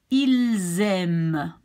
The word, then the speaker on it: ils aiment: You see, normally, if you would pronounce this, you would say il. And this would be aime. But since this starts with a vowel, you will be linking the S to the A. Ils aiment.